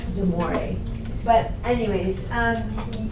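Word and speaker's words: De Moivre: to take notes over it's pronounced deori theem I think it's close enough okay the V is kind of silent so it's deore but anyways um it's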